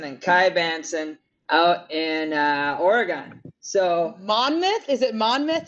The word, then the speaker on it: Oregon: Lots of people say that, and some people want to call it Oregon, and it's not Oregon, it's Oregon.